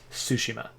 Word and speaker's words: Tsushima: I realize that as an English speaker, I should just say Tsushima. I should keep it simple, not try to make it complicated. But when I see that TS, I kind of have to try to pronounce it, but it totally makes the title complicated for me.